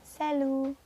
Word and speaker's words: salut: Tulisannya salut, tapi dibacanya salut.